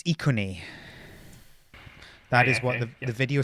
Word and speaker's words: Iconi: Which is always a safe thing to do with pronunciation. Yes. Iconi? So it's Iconi.